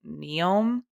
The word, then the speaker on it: Neom: team is called, like, Neom, Mhm. Neom, and Ew. Hannah and I from Track Talk were like, "How do you say that?" And I was like, "It's like neom, like cars."